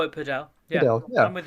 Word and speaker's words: padel: No, I call it padel. Yeah, padel, yeah. I'm with you. Absolutely. It's not spelt paddle; it's spelt padel.